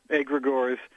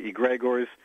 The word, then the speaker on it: egregores: it's Greek we said egregores although some say he Greg ores and then I understand someone said that the second G should be silent that in Nome we just say egregores the occult entities that